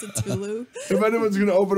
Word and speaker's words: Cthulhu: Salulu. How do you say it? Cthulhu. Bravo. It's a Tulu.